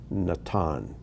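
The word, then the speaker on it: נתן: first one here is natan nathan and in the bible in our english translations it's pronounced nathan but in hebrew natan so take a moment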